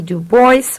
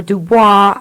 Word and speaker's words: Du Bois: Du Bois, or Dubois. I am never sure how we should pronounce his name. Dubois seems to be the correct name, but it seems to me we use Du Bois, so however it is, excuse me.